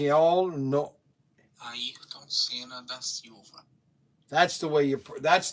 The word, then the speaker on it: Ayrton Senna da Silva: So let's get his correct pronunciation. Ayrton Senna da Silva. It's all no. Ayrton Senna da Silva.